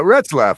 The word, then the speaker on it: Ratzlaf: Yeah, Ratzlaf. I would I would say that's how you pronounce that.